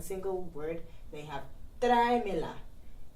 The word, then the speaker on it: tráemela: word, then you have tráemela. And then you would have an accent on the E just to help pronounce it better. If not, it will be tráemela, which is not correct.